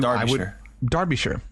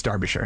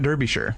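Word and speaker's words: Derbyshire: go by this place it's spelled d r b y s h i r e so mhm uh you darbishire it's darbishire it's not Derby sure I didn't know that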